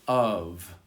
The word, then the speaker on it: of: We have V as in never and F as in of.